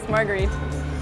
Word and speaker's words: Marguerite: Yes, Marguerite. I did say Margaret, which is the wrong thing, but that's how we say it, you know.